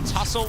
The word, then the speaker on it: tussle: Can I raise you the tussle of the pterodactyls? And tussle's got a silent T in it as well.